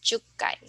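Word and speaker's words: 十回: Our special pronunciation here is in the 1, 6, 8, and then 10. So ikkai, rokkai, hakkai, and jukkai.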